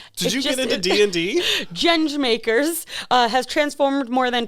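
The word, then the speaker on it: Gjenge: And then her company, which I looked up how to pronounce it, Genge.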